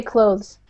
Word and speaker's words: clothes: So, I say clothes. Clothes. You don't really say the th too much. Like Alpha says, it sounds it kind of sounds like clothes.